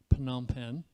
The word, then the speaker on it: Phnom Penh: it phnom penh and that is a ph a hard sound so if you're wondering how to pronounce that phnom penh and then that's where